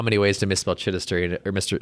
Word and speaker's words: Chidester: I can say Chiddister. It's like that's why I say Chiddy because like they can't even spell it.